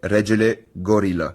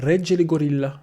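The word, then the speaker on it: Regele Gorila: Mais la vraie prononciation, c'est Regge le Gorilla. Bon, on voit Comme je disais au début, un peu comme en italien. C'est une intonation italienne. Regge le Gorilla.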